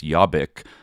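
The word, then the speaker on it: Jobbik: called I you know Hungarians pronounce, but I think it's Yabik.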